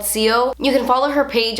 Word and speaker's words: XIO: It's called CO. You can follow her page on Instagram. It's CO_ByYlette. I'll have it like here on the screen. It's XIO, but it's pronounced CO.